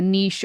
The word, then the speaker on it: niche: are then placed in like a niche or a niche, depending on how you pronounce it, near the house's front door or above the hearth or oven in a kitchen.